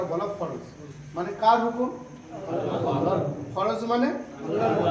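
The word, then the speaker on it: الله: কি হবে ল ল হবে ওই আকারটার হবে আল্লাহু আকবার আল্লাহু আকবার আল্লাহ শব্দের তাসদিদের ডাইনে আল্লাহ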